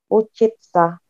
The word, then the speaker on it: учиться: Alfi, kalau ini bacanya Uchitsa. Kayak pizza. Pizza.